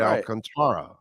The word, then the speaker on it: Alcantara: a and so did alcantara that's right alcantara that's the way you say it in spanish right i mean that's the that's the real pronunciation alcantara right because you're pronouncing the a mm-hmm so sorry you